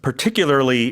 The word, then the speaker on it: particularly: influen outbreak particularly yeah this one's particularly difficult to pronounce sometimes it's five syllables so particularly uh it